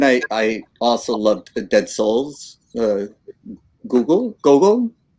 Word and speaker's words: Gogol: Gogol, correct my Yes. pronunciation. Yeah, Gogol.